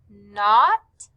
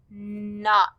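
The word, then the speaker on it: knot: circled were the words not and knack. Both of these words begin with the K N sound, but since the K is silent, we just hear N, not, knack.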